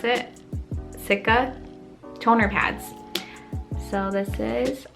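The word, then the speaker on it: cica: what that means um this is the scentella sikka is how you pronounce it sikka toner pads so this is how the packaging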